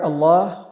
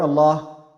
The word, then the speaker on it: Allah: the word the word Allah we have is pronounced in either light matter or having matter most of the times is pronounced in heavy matter but sometimes it is pronounced in a light manner this word specifically over here this this novel gelada will be pronounced in a heavy manner why because there's a